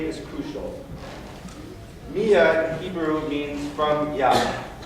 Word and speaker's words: Miya: inspiration your first name mia has caused us a fair amount of confirmation we spell it m-i-y-a which seems to confuse people who want to call him meyer we could have saved